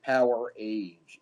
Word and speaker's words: Powerage: with them about this they pronounce it power age it's not a real word it's just something they made up so powerage i don't